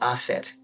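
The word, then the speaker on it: Aset: very complicated names um Isis is asset a s it can be as E T or A S T.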